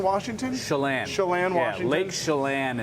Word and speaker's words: Chelan: From, maybe I'm pronouncing this wrong, Chelan, Washington? Chelan.